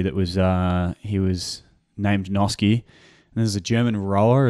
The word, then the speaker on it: Noske: How do you say your last name? It's Noske. So Noske.